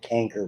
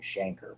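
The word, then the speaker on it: chancre: term did whatever reason they called it canker rather than Shanker which is the way to pronounce it so you had and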